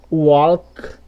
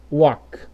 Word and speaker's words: walk: O mesmo acontece aqui nessa outra, ó, você não vai falar assim, ó, walk ou walk, você vai falar walk. Esse L vai ser mudo e aqui também acontece o mesmo na outra.